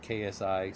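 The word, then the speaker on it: ξ: is like Sai right pronounced like ksi sigh and what's weird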